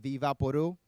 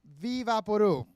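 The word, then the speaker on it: Vicks VapoRub: and Vicks Vapor Rub, or how Dominicans pronounce it, Vivaporu. Vicks Vapor Rub, some Dominican read that and went, Vivaporu. That's, ICK isn't silent in Spanish. We just said, we don't need those letters.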